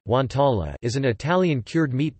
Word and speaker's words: guanciale: Guanciale, Italian pronunciation, guantala, is an Italian cured meat product prepared from pork jowl or cheeks.